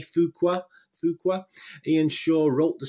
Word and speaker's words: Fuqua: I don't know how you pronounce this. F-U-Q-U-A, Fuqua.